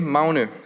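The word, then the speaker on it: Magne: The name Mner as it is pronounced in Danish is inspired by Norse mythology where Mner the son of Thor is known for his immense strength.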